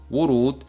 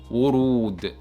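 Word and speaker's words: ورود: That's why it is pronounced as wurud, wurud, with a stretched sound as well.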